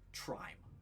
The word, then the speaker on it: Trime: um you get a name the name is trime TR i m e and in quotes it